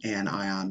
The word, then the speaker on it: anion: charged you'll notice that we kind of don't pronounce the words properly like normal English this is a cation and this is an anion because well because chemistry oh and so the